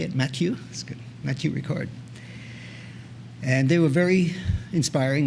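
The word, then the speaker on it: Matthieu Ricard: that's how you say it matthew that's good matthew record and they were very inspiring and very touching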